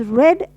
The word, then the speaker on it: read: also spelt as R-E-A-D, but it is pronounced as red as in the color red.